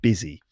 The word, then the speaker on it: busy: repeat that after me busy yeah not buzzy or buzzy but busy collocations so words that